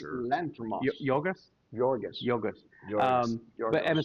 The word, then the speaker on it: Yorgos: Bugonia, which is the 2025 movie with Emma Stone, directed by, I can never pronounce his name, Logos Lanthimos? Yorgos Lanthimos. Yorgos?